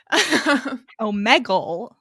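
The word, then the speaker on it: Omegle: may gold it's not you would think it'd be spelled like bagel but it's not oh megel oh my god one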